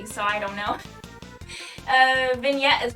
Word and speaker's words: vignette: you bro i just want to hear the pronunciation vignette vignette vignette vignette yeah that's what it says all